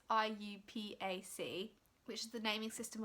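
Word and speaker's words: IUPAC: know how you say if you say it like oh you pack I say are you pack but I'm pretty sure it's I you PA see which is the naming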